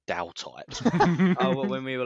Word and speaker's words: Daltite: makes sense i mean some some people pronounce it wrong who cares it is whatever you want it to be but it is dow type wasn't there another question